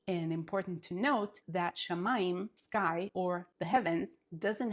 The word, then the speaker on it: shamayim: So we have sha, ma, yim. So even though this syllable, the mid syllable, starts with an M, a mem, we have the yim, shamayim.